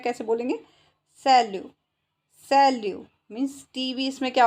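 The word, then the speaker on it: salut: सैल्यू। सैल्यू means TV इसमें क्या हो गया?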